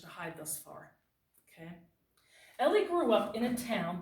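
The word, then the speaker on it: Elie: to pronounce her author's name his name is Ellie then you pronounce this V said very strange having name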